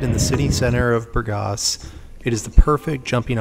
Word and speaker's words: Burgas: and by the way it's Burgos not Burgess or any other form of pronunciation that I hear on a lot of YouTube videos all right let's get